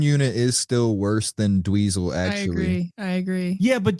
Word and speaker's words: Dweezil: Is it spelled like weasel? It's DWEEZIL. He had to put some stank on it.